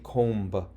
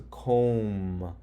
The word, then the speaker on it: comb: Now, if I sound this out, k, o, notice I don't say the B sound. I don't say comb. This is a comb? No, it's a comb. So all you hear is C-O-M.